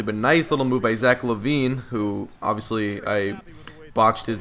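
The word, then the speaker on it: Zach LaVine: I just don't pay attention too closely to how guys are pronouncing certain guys names or whatever. So, I apologize. It's Zack Lavine.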